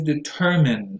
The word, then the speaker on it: determine: The next one is determine. The stress goes on the second syllable. Don't be misled by the mine here.